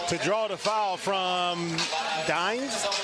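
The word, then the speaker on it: Dynes: I mean he utilized the pump fake to draw the foul from Dimes? How do you pronounce his name?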